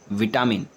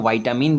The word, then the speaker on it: vitamin: Spelling होता है VITAMIN, विटामिन। कुछ कुछ लोग इसको वाइटामिन भी कहते हैं। तो आप चाहे विटामिन कहें चाहे वाइटामिन कहें, दोनों करेक्ट प्रोनाउंसिएशन है और इसीलिए इसका करेक्ट आंसर हो जाएगा ऑप्शन नंबर ए।